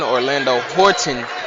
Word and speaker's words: Orlando Horton: Another correction, Orlando Horton Jr. is the correct pronunciation of his name.